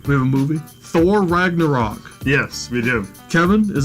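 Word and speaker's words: Ragnarök: Ragnarok is the pronunciation.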